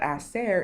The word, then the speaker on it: hacer: And you notice that hacer is silent because the H's in Spanish are, of course, silent.